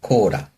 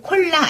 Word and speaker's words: コーラ: 네, 코라. 코라. 얘도 콜라 아니라 코라.